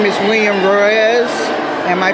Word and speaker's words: Ruiz: who is a percussionist his name is william royes am i pronouncing that right yep okay william can you